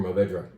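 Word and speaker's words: Mourvèdre: of those perhaps, so why don't we say Mourvedre, or Mourvedre, if you want me to pronounce it that way. 100% Mourvedre, that for me reminds me a bit of Bandol.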